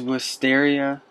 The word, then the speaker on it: Wisteria: It is Wisteria, that's how I pronounce it, the rival school to Ravenwood College, Ravenwood Schools of Magical Art.